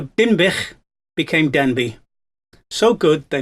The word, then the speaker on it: Dinbych: you will see that Denbigh, pronounced the way they would have spoken it in those days, would have sounded like Denbych, which is not a million miles away from its real name of Dinbych.